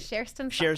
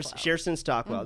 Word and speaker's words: Cherstyn Stockwell: Across from me is Cherstyn Stockwell, who is I'm saying it right? Cherstyn Stockwell. Cherstyn Stockwell.